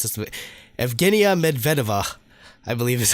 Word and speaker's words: Evgenia Medvedeva: That would be the Russian lady skater that goes by the name of, oh god, it's Russian, so I'll try to pronounce this. Evgenia Medvedeva, I believe is how it's pronounced.